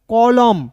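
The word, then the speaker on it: column: कॉलम।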